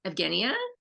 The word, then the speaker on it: Evgenia: So is now let me see if I'm pronouncing it right. Is it Evgenia? Yep, that's right. You're one of the few people that gets it right.